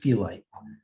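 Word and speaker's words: phyllite: is called felite so this is pronounced felite what's going on in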